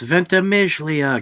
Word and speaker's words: Ventimiglia: be right yeah no i just butcher his name all the time the first berserker pronounce every single consonant in his name it's ventimiglia god damn it uh